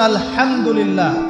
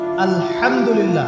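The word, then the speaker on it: الحمد لله: আলামিন এইতো আপনি পড়ছেন আলহামদুলিল্লাহ শব্দটা কি আলহামদুলিল্লাহ এই হা এর মাখরাজ কোথায় হা এর মাখরাজ কোথায় বলেন একজন কণ্ঠনালীর মাঝখান থেকে এখান থেকে আপনি উচ্চারণ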